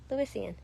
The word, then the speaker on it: Lewisian: You just think of it like the 2 names, Lewis and Ian. Lewisian.